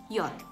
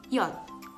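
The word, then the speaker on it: Jot: Nah, ini huruf yang spesial, bacanya yod. Yod. Yod. Jadi di sini nggak ada J.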